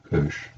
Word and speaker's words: cosh: E to the x minus e to the minus x over 2, whereas the hyperbolic cosine of x is, and that's pronounced cosh, e to the x plus e to the minus x over 2.